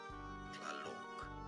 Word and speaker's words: Tlaloc: The Nahuatl pronunciation is as Tlaloc.